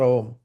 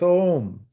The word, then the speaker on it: Om: So it's pronounced Om, actually, not Om.